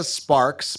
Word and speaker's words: Sparxx: Her name is Lisa Sparks, but it's spelled Sparxx.